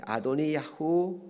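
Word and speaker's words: אֲדֹנִיָּהוּ: 죽는 장면을 공부하게 됩니다 아도니아라는 말에 히브리어 발음은 아도니아 후 이렇게 있는게 보편적입니다 아돈이 야호라는 말은 야훼는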